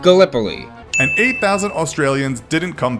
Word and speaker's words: Gallipoli: It's pronounced Gallipoli.